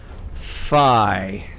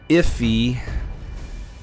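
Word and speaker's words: Fii: So anyways, F-I-I is how you pronounce it. It's just the Greek letter Phi. It's not P-high. It's not iffy. It's not fi. It's not P. It's just phi.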